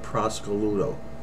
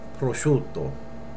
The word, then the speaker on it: prosciutto: market and she said give me a half a pound of Prosecco Ludo you will never say that you'll say prosciutto okay we'll say it